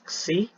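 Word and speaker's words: ξ: So u double dot plus 2 kasi omega u dot. Okay, so this Greek letter is pronounced as xi.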